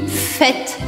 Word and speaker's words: fête: N, bonne, bonne, e fête, bonne fête. Fête, tá bom? O acento circunflexo no E do fête vai fazer com que eu abra o som desse E.